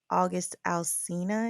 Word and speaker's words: August Alsina: I'm going to have to nominate August Alsina.